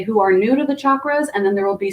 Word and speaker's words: chakra: of that is the energetic anatomy called the chakra system and if you ever uh wondered because maybe you've heard it pronounced both ways you're gonna hear me pronounce